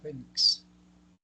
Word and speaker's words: fénix: Presentan la mayor fuerza de voz en la penúltima sílaba. Se tildan siempre que no terminen en S ni vocal. Por ejemplo, fénix.